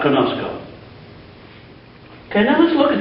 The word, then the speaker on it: conozco: So instead of conoso, which you might think would be the way it would be pronounced, it's conosco. And this is very common